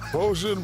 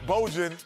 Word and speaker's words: Bojan: You know, His he name needs is to make it his Bojan. fourth time. Because it's Hey, that's what Bojan Bogdanovich. it's spelled like Trojan, so It is. it's not Bojan.